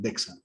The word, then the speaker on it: DXA: Se escribe DXA como tal, DEXA.